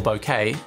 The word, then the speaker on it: bokeh: the increase in the bokeh that we'd be getting or bokeh which i learned earlier this year is how it should be pronounced don't see that catching